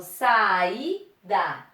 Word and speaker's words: saída: Eu não falo saída, eu falo saída. Saída. Vogal, vogal. Sílaba mais forte. I.